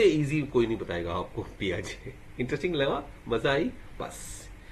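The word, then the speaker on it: Piaget: हुई है, और पियाजे, हालांकि इसको पाइजेट नहीं, उनको पियाजे बोलना है, पियाजे, पाइगेट नहीं है, पियाजे, पियाजे, प्याज नहीं, पियाजे, जे, ज में ए लगा दो, पियाजे, इनका नाम का उच्चारण ऐसा है, जीन पियाजे।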